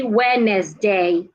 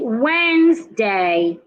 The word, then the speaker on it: Wednesday: have is Wednesday Wednesday please never say wedes day say Wednesday another word that we